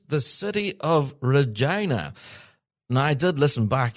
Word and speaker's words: Regina: Uh, so yeah, it's the city of Regina. And he has spelled it phonetically.